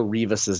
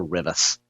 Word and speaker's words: Rivas: I mispronounced Rebecca Rivas' name yesterday. I called her Rebecca Rivas. So I went back and I listened to her say her own name a few times on various videos, and she pronounces it Rivas.